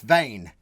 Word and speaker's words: Wehn: Sorry, we're pronouncing it all wrong. It's Wehn. Henning Wehn.